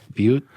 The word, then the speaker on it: Butte: Butte. I thought you said blackberry. I mispronounced the word.